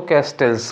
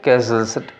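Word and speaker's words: castles: तो कैसल्स है, उसको हम लोग असल में थोड़ा प्रोनाउंसिएशन गड़बड़ है तो हम लोग उसको कैस्टल्स बोलते हैं। तो बिल्ड कैस्टल्स इन द एयर, ज़्यादातर लोग कैस्टल्स बोलते हैं, जबकि यह है क्या, कैसल्स, उसमें टी नहीं बोलना चाहिए।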